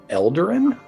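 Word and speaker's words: Eladrin: would probably know that this is a elderin that's how you say it it's a winter life it is it is a winter aladrin that you were gazing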